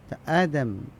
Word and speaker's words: আদম: ইতিহাস তথা বিশ্বের ইতিহাস তাকে এধাম বলে অনেকেই এধাম যারা ওই ইয়াহুদী রয়েছে তারা ইসলামের নামগুলো কিছুটা বিকৃত করে এটাকে উচ্চারণ করে তো জিসাস বলে ইউসুফ আলাইহিস সালামকে জিসাস বলে ঈসা আলাইহিস সালামকে জিসাস বলে এভাবে অনেকগুলি নাম তারা চেঞ্জ করে আদম এটা হলো সঠিক উচ্চারণাম বলে কত কিছু বলে আদম